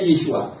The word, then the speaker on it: Yeshua: Nama sang juru selamat ternyata di dalam kitab berbahasa Ibrani ditulis Yesua Yayin. Di dalam kitab Esita atau Arama juga ditulis hal yang sama. Yayin juga artinya dibacanya Yesua.